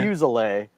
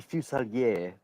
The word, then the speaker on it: Fuselier: Oh yeah, it's originally French, but I think my family technically we pronounce it wrong because we say Yeah. Fuselier, but I know it's supposed to be Fuselier.